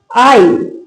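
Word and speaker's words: aisle: Rule क्या कहता है अपना कि जब आई और एल के बीच में एस हो तो एस साइलेंट रहता है। आई और एन के बीच में एस हो तो एस साइलेंट रहेगा।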